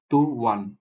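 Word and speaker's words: طُوًى: তাহলে এই শব্দের সাউন্ড বা উচ্চারণ আমরা কিভাবে করব, এটাকে কিভাবে পড়বো? টু ওয়ান, টু ওয়ান, টু ওয়ান, টু ওয়ান।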